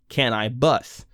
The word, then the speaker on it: Can-I-Bus: his debut studio album can i bus which of course is a play on his stage name spelled the same but pronounced differently apparently ll and cannabis